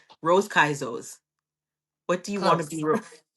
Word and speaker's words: Caiazzo: So it's Caiazzo, and it's no problem.